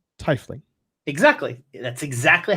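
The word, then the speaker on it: tiefling: my case i pronounce it correctly and google pronounces it incorrectly right like tifling exactly that's exactly how you say it i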